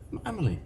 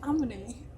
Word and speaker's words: Emily: You didn't say my name right. Emily. You said Amity.